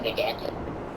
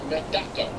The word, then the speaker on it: Medaka: A Medaka. Are you mispronouncing Madonna? No, she's not hatched yet. She's not made out of fiberglass. No, Medaka. It's a Japanese rice fish.